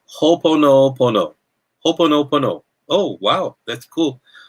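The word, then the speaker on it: Hoʻoponopono: So you say Ho'oponopono.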